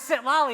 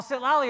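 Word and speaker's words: Xitlali: Well, Sitlali is spelled X-I-T-A-L-I. And I was like, that doesn't spell Sitlali to me at all.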